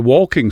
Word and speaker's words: waulking: We have what's called a walking song, and it's not just like walking along the road, it's spelt walking.